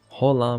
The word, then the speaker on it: hola: Hola with a smiley face, okay. Well, they say hola. They don't actually pronounce the H.